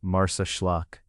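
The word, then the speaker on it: Marsaxlokk: Marsakllock, often pronounced Marsllock, rests beside a wide rounded harbor with low buildings facing the water and boats gathered close to the shore.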